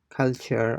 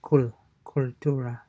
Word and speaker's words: cultura: like make a note of how it is pronounced. So it's not culture or kul. So it's more like cultura, cultura, right?